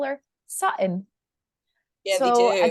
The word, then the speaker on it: Sutton: None of them actually pronounce the T's.